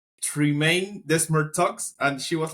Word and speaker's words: Desmarteaux: So if you're gonna say it like it's a French name, so if you say it French is Desmarteaux, but Okay?